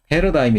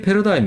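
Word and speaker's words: paradigm: 그 대세를 뭐라고 해요 패러다임 이라고 그런다 흘러간 굉장히 주면 됩니다 이게 다 지금은 과학 뿐 아니라 뭐 인문 사업의 어디 아다 쓰이는 단어가 됐어요 일지는 묵음 입니다 끊이질 않아요 패러다임 페루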